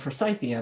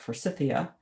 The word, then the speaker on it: Forsythia: i think is grandifolia forsythia which should be said for syphia because it's named for john forsythe but forsythia and usually we're growing